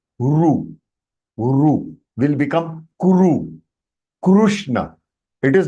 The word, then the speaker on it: कृष्ण: So Krishna. So Krishna. Krishna is the right pronunciation. It is not Krishna. Samichinam va?